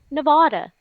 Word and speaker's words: Nevada: spanish word and that correct pronunciation of the spanish word would be nevada i understand that but it's nevada but why why because